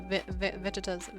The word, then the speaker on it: Vegeta: It's like vegetable just without the bowl. veget as the Japanese say it.